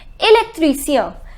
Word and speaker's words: électricien: The pronunciation is électricien.